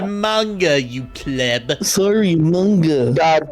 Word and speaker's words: manga: It is pronounced manga, you pleb.